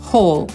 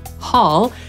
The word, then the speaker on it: haul: Jednym z nich jest haul, tak powie Brytyjczyk, Amerykanin haul i oznacza ciągnąć, holować, haul, albo na przykład zdobycze czy łup.